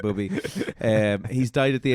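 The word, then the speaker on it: Bobi: full sure you you mispronounced Bobby there for a second no it's actually Boby um he's died at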